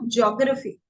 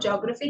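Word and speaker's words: geography: तो कई बार हम बोलते हैं, लोग बोलते हैं ज्योग्राफी, जैसे मैंने अभी बोला कि हम बोलते हैं ज्योग्राफी, इट्स नॉट ज्योग्राफी, हम इसको बोलते हैं जियोग्राफी। ज पे हम स्ट्रेच करेंगे जियोग्राफी, ठीक है।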